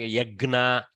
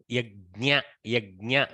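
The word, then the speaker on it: यज्ञ: We ended up sometimes pronouncing Yagna like that. Yagna is very bad pronunciation. Try not to do Yagna. It sounds like Vigna. Okay. Yajna would be slightly better. Bring the Jnyakara at least. Okay, Yajna. If you want to be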